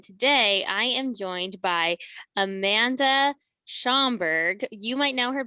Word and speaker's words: Amanda: as a child and my name um also rhymes with it so when i was little my name was amanda amanda panda that was